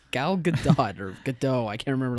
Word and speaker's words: Gal Gadot: And she was talking about how Gal Gadot said her name like for everybody at the table, and I'm pretty sure you subtly pronounced the T.